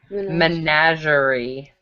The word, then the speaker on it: menagerie: Menagerie. Sounds dirty. Like lingerie. Maybe No, like the way you said it slow, it was kind of like another thing in French.